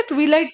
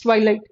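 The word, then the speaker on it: twilight: बहुत सारे बच्चे से ट्विलाइट प्रोनाउंस करते हैं, this is नॉट ट्विलाइट, this is ट्वाइलाइट।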